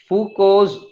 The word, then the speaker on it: Foucault: so this is called foucault's this is this is actually pronounced as foucault or foucault foucault rotating mirror experiment so